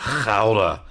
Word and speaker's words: Gouda: And he said, "Gouda." You got to there's a bit of a guttural type thing with the G.